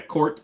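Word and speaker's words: KRT: the MSRP yeah yeah court but it's k r t it just pronounced Court what do I think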